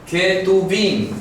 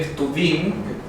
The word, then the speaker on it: Ketuvim: Ketuvim, también se puede escribir sin la E y poner solamente Ketuvim. Ketuvim, hay que tener la garganta un poco ejercitada para pronunciarlo.